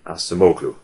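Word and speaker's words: Acemoglu: explanation is associated with the American Economist Darren asamu and his name is spelled surname is spelled a c e m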